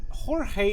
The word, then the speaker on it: Jorge: Alright, our opponent is Jorge B. I was gonna say George B, but I know how to pronounce his name.